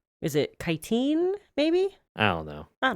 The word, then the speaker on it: chitin: I know chitin is actually how you pronounce that word instead of chitin.